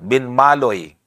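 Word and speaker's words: Binmaley: At dito sa Pangasinan ay yung pong E ay pagka sinulat mong E, pero pag pronounce nila ay U. Doon sa Benmali, Pangasinan, tanungin mo sila, doon sa Binmaloy. Yan, Binmaloy. Kahit na makipagdebate doon, Binmaloy talaga babasahin.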